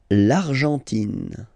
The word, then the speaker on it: Argentine: L'Argentine. Okay, so you've got this nasal here. En, l'argent, and then tin. Don't pronounce the final it just gives you the pronunciation of the N.